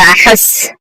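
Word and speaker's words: أحس: এখানে হায়ের উচ্চারণটা ঠিক মতো করবেন। আনা আহাস আমি অনুভব করছি। এখানে যদি আনা আহাস আহাস বলেন এটা ভুল হবে।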